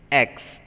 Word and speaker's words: axe: Jack cut the beanstalk, I hope you are repeating, into two with an axe. A-X-E-X. A-N-E if you say both are silent. Only you have to pronounce X.